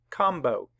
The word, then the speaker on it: combo: in the word lamb but when MB are together in the middle of a word both sounds are made like combo that's where the syllable splits so both sounds would be made so um before we